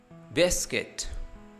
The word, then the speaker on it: biscuit: Biscuit, the silent syllable U, biscuit.